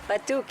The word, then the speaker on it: Batuk: Did I pronounce that right? Batuk, yeah. Batuk.